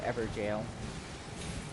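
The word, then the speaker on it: Evergaol: one so okay i think it's weird that's pronounced ever jail you can summon him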